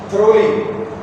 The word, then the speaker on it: thoroughly: Thoroughly. It's not thoroughly. Thoroughly.